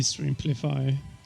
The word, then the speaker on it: Streamplify: now i'm now confused is it street amplify or stream because i think i've been pronouncing it's extremely fine i think it should be strimplify oh okay well my